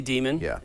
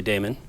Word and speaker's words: Daemon: demon you like yeah I say demon and then of course a lot of Unix people say Damon and you know it's probably worth saying Damon because it's spelled D Dae and and that way people when they see it in the bookstore say oh Damon I I'll tell you